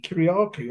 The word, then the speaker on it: Kyriacou: hang again for a little while with Andy Kyriacou of Modern Romance. Andy, how are you? Oh, well, thank you. And it's so nice. You actually said the name correctly, Kyriacou.